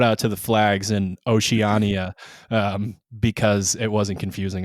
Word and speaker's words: Oceania: say it sherb ocean oceana oceana but it's not this it's an ia say it again with the iaea well oceania yeah yeah i've heard